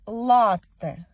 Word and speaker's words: латте: Учора мені написали, що правильно буде наголос як латте.